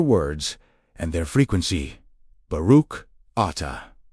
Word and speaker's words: Ata: Ata, pronounced Ata, means you are or it is.